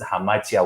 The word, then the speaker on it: hamartia: I stand to be corrected on the pronunciation, but it is hamartia when I researched it, right?